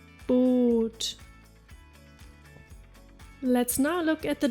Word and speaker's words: Boot: Double O, as in Boot. Boot, meaning boat. Did you spot it? If you find a double vowel, it means a prolonged vowel sound. Saal, Meer, Boot.